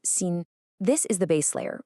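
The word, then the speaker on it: 心: Well, in this model, that's what the source calls our mind space, or in Chinese, xin, pronounced xin.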